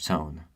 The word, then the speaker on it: tone: For example, the word tone has an E making the O produce the long O sound. Without the E, despite it being silent, the word will be pronounced ton instead of tone.